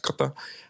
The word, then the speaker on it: Qatar: And the example I would give is that I used to live out in a place called Qatar, pronounced Qatar, and everybody got a speeding fine.